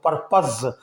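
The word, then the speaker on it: purpose: Particular का मतलब है ख़ास, और ऐसे ही PUR पर और POSE पोज बनता है, और पोज इंग्लिश का एक अलग वर्ड है, लेकिन यहाँ इसको पर्पज़ पढ़ेंगे, परपोज नहीं बोलेंगे।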